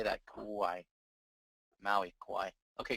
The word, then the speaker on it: Kauai: Kauai. Maui, Kauai. Okay, Kauai.